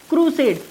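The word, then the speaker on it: crusade: क्रूसेड अगर देखेंगे तो क्रूसेड is rhyming like Kurukshetra. अगर ध्यान से देखेंगे क्रूसेड, अगर इसका प्रोनाउंसिएशन देखेंगे सो it's rhyming like what, Kurukshetra.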